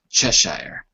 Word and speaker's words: Cheshire: ian chest Shire it's pronounced differently then it's written I think its chest Shire ok save shall Shia sir Sir Ian Cheshire ah sir IAM shall shia shave excuse it